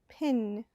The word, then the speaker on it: pin: Pin. The I in pin is short.